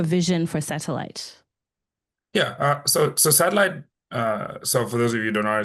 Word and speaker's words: Satlyt: Yeah, so Satlyt, so for those of you who don't know how it's spelled, it's SATLYT.